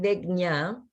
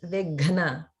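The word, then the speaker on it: Vighna: One thing to work on is the Maha prana gha in Vigna. So it's not like Vignya, it's Vigna.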